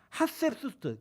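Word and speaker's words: Hatshepsut: 근데 본처가 누구냐면 자기보다 나이가 많은 이복 누이였던 핫셉수스트, 그 핫셉숲이라고 얘기하고요. 하트셉수스트라고도 얘기해요. 발음이 굉장히 어렵죠. 제가 시옷 발음이 잘 안 되니까 읽으세요. 핫셉숲이라고도 얘기하고요. 여기 보시는 것처럼 하트셉수트라고도 얘기합니다.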